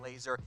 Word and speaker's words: Lazor: their new offensive coordinator bill laser that has pronounced laser I know it's spelled cor it's pronounced though liking laser he replaces Mark Helfrich as the new Bears